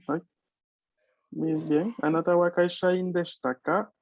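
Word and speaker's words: 会社員: Tenemos una sílaba con sonido combinado, Kaishoin. ¿no? Otra. Ya. Este es ya. Sí, ya recordé. Hai. Kaishain.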